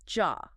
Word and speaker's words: ja: It's y sounds like y or the most common word for yes. J. It's not y. It's jaw. Like y.